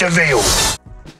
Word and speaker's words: de Vil: last name devel he spelled devil by his pronounced veal the last scene of cruella sets up the